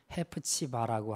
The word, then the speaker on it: 헵시바: 사실 이제 이 히브리어 원어 발음으로 하게 되면 헵시바가 아니고 헤프치바라고 하고 뷸라가 아니라 베올라라고 이렇게 발음합니다.